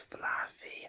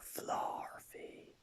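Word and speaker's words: Flaaffy: Also, I used to pronounce Fluffy as a Fluffy, but Flarfy.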